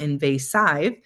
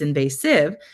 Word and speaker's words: invasive: But the third syllable, although it appears to be a vowel consonant E syllable or a silent E syllable, it's actually not following the rule we'd expect for a silent E syllable. It's not saying a long I sound. It's not invasive. It's invasive.